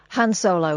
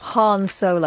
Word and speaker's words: Han Solo: culture who's that please Han Solo incorrect Han Solo thank you very much